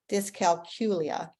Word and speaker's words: dyscalculia: It is like saying the letter Q there in the middle, dyscalculia.